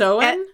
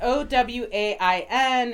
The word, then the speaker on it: Owain: well I like that OWA i n it's different spelling about yeah still pronounce it Owen or you can Owain which everyone's gonna do anyway and then for Ava